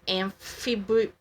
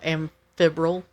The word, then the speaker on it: amphibole: And it's actually you probably know how to say this, amphibole, AMPHIBOLE. Oh, amphibril. But there's no R. I'm not sure. Like, it's almost like amphibian.